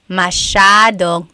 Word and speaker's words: masyadong: Masyadong means a lot. So the S-Y-A is a sha sound.